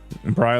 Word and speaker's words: Bry: Bry like sky? Perfect.